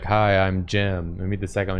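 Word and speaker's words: Gim: a different guy yeah it's jim spelled like the the place you go to work out yeah it's jim with a g g-i-m um earlier uh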